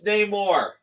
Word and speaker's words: Namor: And it's Namor. I know it's right. No matter what they say. You're not going to like the way it's pronounced. I like. He's also from Atlantis. I like what Marcus says. It sounds different underwater.